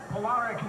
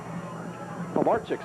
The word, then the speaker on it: Polarchik: Polaric now in at quarterback for Union-Endicott. Jeff Polaric now on for UE at the quarterback spot. Polarchik's a pronunciation.